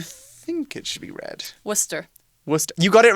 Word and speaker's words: Worcester: all over the world as well yeah often mispronounced people call it worse Esther or more Chester's where's Chester Chester Shire yes but it is Worcester and it's a weird source that was invented